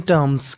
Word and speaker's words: terms: Meaning है वो है TERMS, इसे पढ़ते हैं टर्म्स। क्या पढ़ते हैं? टर्म्स। आर इसमें साइलेंट रहता है। आर का उच्चारण ऐसे करना है कि सामने वाले इंसान को पता ना चल पाए कि हम आर बोल रहे हैं कि नहीं बोल रहे हैं।